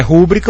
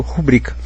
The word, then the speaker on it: rubrica: aí você pensa bom se fosse rúbrica o autor teria que ter posto acento no u porque porque seria paroxítona desculpe porque seria pró paroxítona mas se ele não pôs Então é porque é paroxítona e eu leio rubrica ok maquinaria aqui a